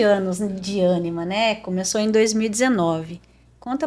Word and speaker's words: Ânima: Olha, é ânima mesmo que fala. Anima. É, tem um assentinho ali, mas às vezes pela própria pronúncia acaba saindo ânima.